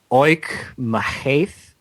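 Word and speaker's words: Oíche Mhaith: It's called, and I'm probably butchering the pronunciation, it's Gaelic, but it's Oich Mahaith. It's OICHE space MHAITH. It means good night in Gaelic.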